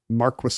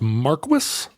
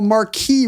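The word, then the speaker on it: Marquess: it's called It's pronounced Marquis um I'm gonna say yeah wow I mean I learned so much from you Ken well Marquee would be the French title right right right but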